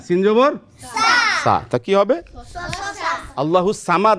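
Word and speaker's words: الصمد: করা উচিত না তাহলে আমরা কোনটা বলবো সদ দিয়ে বলবো না সিন দিয়ে বলবো সদটা মোটা হবে হরফের উচ্চারণ আর সিনটা কি হবে পাতলা হবে একটু চিকন হবে লাম ইয়ালিদ ওয়ালাম ইউলাদ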